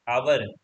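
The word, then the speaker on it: hour: और आवर, एच ओ यू आर, आवर, हमारा एच यहाँ पे साइलेंट रहेगा तो आर एक तरीके से पढ़ाता है, तो आर के आगे हमारा लगेगा एन।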